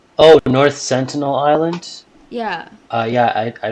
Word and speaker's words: North Sentinel Island: is endless like North Centennial North Centennial Island North Centennial Island what is that it's that island where like